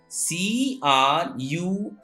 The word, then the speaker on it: crumb: CRUMB. Here B has given after M. It's why B is silent. So it is crumb, not crumb.